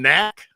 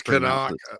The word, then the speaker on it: Knaak: Aiden Knack, is that how you say it? Knaak, or is it? I think it's Canuck. I think there's a hawk in there. Canuck. Okay. I was actually on the Clemson website looking at the roster, and they do in their own voice. They have the pronunciations in there. So it's Canuck.